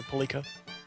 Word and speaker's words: Pilika: Yeah, that works for Pilika.